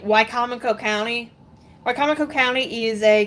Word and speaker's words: Wicomico: Like Wicomico County. Wicomico County is a county in eastern Maryland, nearest the seashore. And she pronounces it Wicamico.